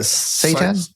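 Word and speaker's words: seitan: Uh, Satan.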